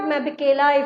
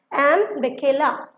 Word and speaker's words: Mbekela: This is not Mabekela. If you think that this is Mabekela, no, this is wrong. This is Mbekela.